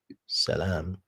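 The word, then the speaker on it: سلام: King of Salam which is king of peace as you can see here. Oops. So as we can see the Bible is defining the word Salem which would be pronounced salam if it means peace.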